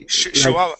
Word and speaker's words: Chihuahua: live in Chihuahua and we say Chihuahua Chua yes okay so that that CH is is really more of an sh sound interesting okay okay let's